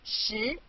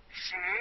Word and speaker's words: 十: This is its syllable, 十. Repeat after me, 十. 十.